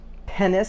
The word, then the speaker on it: Penis: stewart named their son pennis stewart it sounds like dennis but it's pennis but it's spelt penis i'm not kidding look